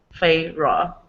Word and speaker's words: Feyre: Feyre.